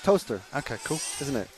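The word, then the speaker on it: Towcester: to to toter yeah toest sh toest toaster and b b but B Bicester or B to toester no it's just toaster okay cool isn't it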